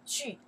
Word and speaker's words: 句: We pronounce the 句 sentences.